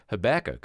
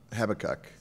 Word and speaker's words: Habakkuk: He'll address the Bible story of Jonah and then contrast that with Habakkuk, a man who trusted God in spite of some very difficult circumstances.